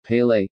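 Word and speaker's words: Pelé: 23rd of october 1940 known as pele portuguese pronunciation pele is a brazilian former professional footballer who played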